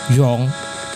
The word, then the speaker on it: 中: Chinese the chu here Chu is pronounced by um pronounced in Mandarin Chinese as Dr Jong in fukan it's Jong Jong take note of the intonations